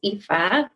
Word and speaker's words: Aoife: about you course so my name is EA for anyone wondering how to pronounce my name as I'm sure it's